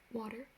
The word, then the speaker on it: water: just say fire fire water water like with a d-type sound water not water not